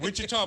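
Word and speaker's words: Ouachita: like Wichita, but it's spelled Quachita.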